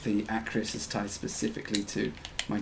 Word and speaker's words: Acrius: It's not Arcrius. Arcrius. It's Arc. It is spelled. It isn't spelled Arc. It is. It is Acrius, but it's not Arc. It isn't Arc. It is Acrius.